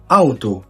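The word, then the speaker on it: Auto: على سبيل المثال معانا اول مقطع اللي هو الا او اه وبيتنطق او او ثم يشبيل اوتو اوتو يعني سياره اوضه هاوس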